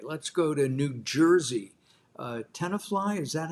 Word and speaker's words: Tenafly: Tenafly, is that how you pronounce that, David? Yep, that's right. Tenafly, New Jersey.